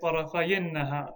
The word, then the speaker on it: طرفي النهار: So because it's idafa, we'll drop the noon. طرفي النهار. And then to pronounce it, we'll have to say طرفي النهار.